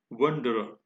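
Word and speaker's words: wanderer: वंडरर, last में जो र है वो साइलेंट होता है।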